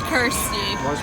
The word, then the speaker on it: Kirsty: It's Kirsty. It rhymes with thirsty.